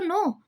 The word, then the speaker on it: know: अगर आप देखोगे KNOW वो हम नाउ पढ़ लाइक NOW को हम नाउ पढ़ते हैं, KNOW को हम नो पढ़ते हैं और KNOWN को हम नोन पढ़ते हैं।